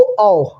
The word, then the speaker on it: औ: और याद कैसे रखेंगे कि इसको हम लोग गलत उच्चरित करते हैं। हम लोग जो उच्चारण करते हैं ये गलत उच्चारण करते हैं, जबकि हमको सही उच्चारण इसका करना चाहिए।